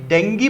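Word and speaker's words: dengue: अब देखिए एक दिवस आ रहा है नेशनल, ये डेंगी पढ़ा जाता है, याद रखना इसको डेंगी पढ़ा जाता है। डेंगू मैंने लिख दिया क्योंकि आम भाषा में, लेकिन इसको पढ़ते क्या है हमेशा याद रखना, प्रोनाउंसिएशन डेंगी होता है इसका, डेंगी, है ना।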